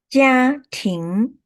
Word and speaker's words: 家庭: 家庭家 is 第一声，庭 is 二声 second tone, first tone 家 second tone 庭 so 家庭.